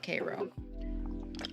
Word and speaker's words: Cairo: cairo georgia yeah um it's spelt like cairo but they call it k-ro and they are like